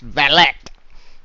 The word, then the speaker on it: valet: feeble looking and just it's pronounced valet yeah it is pronounced ballot unless you're parking my car dude yeah I can't